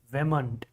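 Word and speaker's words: vehement: Another word. Vement. Like there is no H. Vment. Vment. There is no H. There is no sound of H here. H is silent here.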